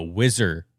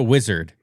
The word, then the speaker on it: whizzer: was like hey guys it's called a whizzer not a wizard I was like I